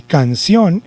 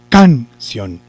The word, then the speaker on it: canción: Entonces, vamos a hacer de cuenta que canción lleva el acento en la sílaba can. Entonces, si llevara el acento en la sílaba can, yo diría, vamos a cantar una canción. Vamos a cantar una canción.